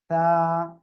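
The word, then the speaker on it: تاء: তা। জিহ্বার আগা দুই দাঁতের আগার সঙ্গে লাগিয়ে উচ্চারণ হবে, বাতাস হালকা বের করতে হবে।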